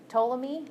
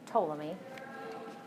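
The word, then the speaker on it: Ptolemy: so this guy could toam me then the p is silence so you pronounce his name um toam me he actually said no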